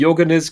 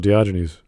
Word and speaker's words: Diogenes: it time and again are you talking about diogenes yes okay i'm sorry i'm pronouncing it the german way so what okay that's